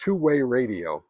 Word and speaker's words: TWYRDIO: Anyway, it's uh twe audio, but uh it's pronounced two-way radio.